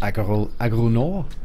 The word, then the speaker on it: Agro Nord: Alright, Agro Nord, another French company, because you'd say that as Agro Nord. You don't really pronounce the D at all.